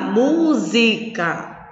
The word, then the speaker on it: música: Música. Eu não posso pronunciar música e nem posso pronunciar musicar. Como é que nós pronunciamos? Música. Então, a sílaba tônica é mu.